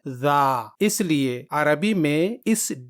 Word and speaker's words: ذ: اس کا صحیح تلفظ ہے ذا.